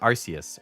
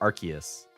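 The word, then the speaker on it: Arceus: now okay what about arus are you arus or archus like do you do the hard or the soft SE hard being the archus I also pronounced ghost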